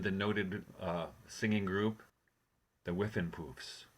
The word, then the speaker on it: Whiffenpoofs: Where you were in the noted singing group, the Whiffenpoofs, correct? You pronounced it perfectly.